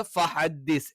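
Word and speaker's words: فَحَدِّثْ: ഫഹദ്ദിസ് ഫഹദ്ദിസ് ഫഹദ്ദിസ് എന്നല്ല, ഫഹദ്ദിസ്. ഹേ ആയി പോകരുത്, ഹേ എന്നുള്ള ഉച്ചാരണം വരരുത്. ഫഹദ്ദിസ്.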